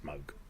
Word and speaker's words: Moog: But given that Bob's not around for us to check with, his daughter says Moog. It's Moog.